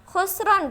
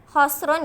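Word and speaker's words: خَسْرٌ: Jadi mohon maaf, yang benar adalah khosrun ya, bukan khusrun ya.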